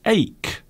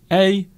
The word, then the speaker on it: ache: So the word ache, A-C-H-E, ache, and that is how you pronounce it, ache.